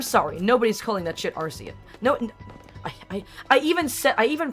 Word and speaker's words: Arceus: that nobody fucking says Arceus. I think the only reason why, like Pokemon is really trying to push Arceus as its official pronunciation is because Arceus has the word arse in it.